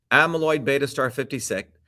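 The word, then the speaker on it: Aβ*56: previously unknown oligomer dubbed a beta56 pronounced amyloid beta star 56 after its relatively heavy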